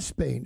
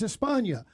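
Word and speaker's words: España: For instance, Spain. It's not Spain. It's Espa. Why?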